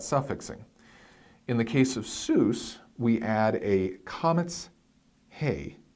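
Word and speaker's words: סוס: Hebrew grammar loves because it's got that nice unchangeable long vowel in the middle and it's one syllable Seuss or horse so masculine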